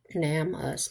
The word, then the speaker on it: NamUs: I think it's pronounced NAMUS, maybe for nameless.